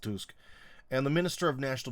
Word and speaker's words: Tusk: Prime Minister Donald Tusk, I know it's spelled like Tusk, but I believe in Polish it's pronounced Tusk, and the Minister of National Defense Władysław Kosiniak-Kamyński was held last month.